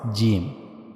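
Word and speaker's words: جيم: So that's how we have to pronounce gimm. Okay, just try it. G the middle of the tongue should be meet with the roof of the mouth. That's how you have to pronounce gimm.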